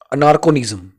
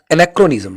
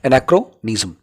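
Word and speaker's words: anachronism: अनार्कोनिज्म, नो, एनाक्रोनिज्म, sorry माफ कीजिए, गलत प्रोनाउंस कर दिया मैंने, एनाक्रोनिज्म, a person, a custom,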